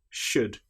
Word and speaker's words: should: Another time when the letter L is not pronounced is when we have the letters U, L, D. For example, the word would, could, should. In these cases, again, the L is completely silent.